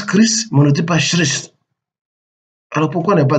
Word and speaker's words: Christ: ne dit pas chrétien le mot Christ se prononce chist pas alors pourquoi ne